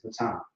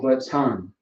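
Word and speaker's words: בטן: So you got the ba, the ta, and the na, okay? So ba, ta, and the na, na, ba, ton. So baton, baton is how you pronounce it.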